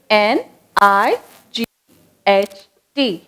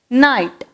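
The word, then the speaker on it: knight: Next நைட், K N I G H T night.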